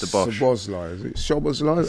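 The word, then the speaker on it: Szoboszlai: Sobozlai, is it? Sobozlai? How do you pronounce it? Soboslai.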